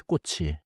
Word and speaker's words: 꽃이: The pronounciation connects smoothly. 꽃 plus e becomes 꽃이 꽃이 예뻐요.